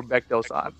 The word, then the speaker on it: Baek Doo San: take 973 yeah today we're GNA cover Beck Doan that's how you pronounce it because he's named after a famous mountain in Korea yes his Le boom